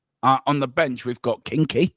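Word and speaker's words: Kinsky: On the bench, we've got Kinky. Now Kingsky. Damn you, Tequila. You said it right the first time.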